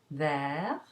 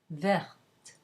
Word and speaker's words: vert: So you would have, for example, the masculine singular vert, you add an S to make it masculine plural, and it's still vert. There's no difference in pronunciation.